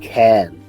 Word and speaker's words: Cairn: Around here it's pronounced Cairn.